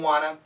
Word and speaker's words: wanna: Now also, want to, we have a spelling, typical spelling, W-A-N-N-A. That's the natural pronunciation. Want to, perfect. Want to, good. But the natural way, wanna, wanna. And the N kills both T's.